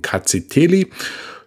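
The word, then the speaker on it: Rkatsiteli: Das R am Anfang spricht man nicht aus, also heißt die Rebsorte ausgesprochen Kaziteli.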